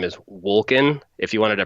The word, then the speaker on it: Wolken: owners his name is Wolken if he wanted to pronounce it correctly it'd be broken like in because it's a german word that means cloud he looks like a